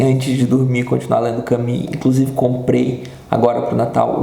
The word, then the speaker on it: Camus: ou Camus, sei lá, Camus seria o certo, né? Você pronuncia o U com um biquinho de I, se fosse pronunciar em francês exatamente, Camus.